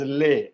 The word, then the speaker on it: les: क्योंकि months है इसलिए इसमें एक S लग गया. And because मुआ is plural, it is ले, LES, ले.